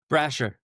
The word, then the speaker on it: Brasher: Oh, I just realized that we're going to cut that out because I just realized how do you say your last name? Brasher. I said it right.